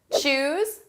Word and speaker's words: choose: Choose, chose, chosen. Notice the pronunciation difference between our base verb, choose, and the past and the participle. Choose, chose. Oo, oh.